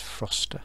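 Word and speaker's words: Frocester: i've not heard of that place before that pronounced froster and this seven ward that looks okay okay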